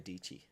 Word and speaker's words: Dietschy: And then I went through his grid, and he was an apprentice for Sarah Dietschy. Rhymes with Peachy.